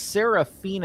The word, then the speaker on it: Seraphina: And I believe it's Seraphina is how it's pronounced.